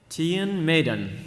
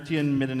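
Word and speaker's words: Tion Medon: our prequel character a prequel character today is Tian Maiden so that's the official pronunciation Tian Maiden that means Tim said it wrong during her Tian midden episodes entire time that's when we got we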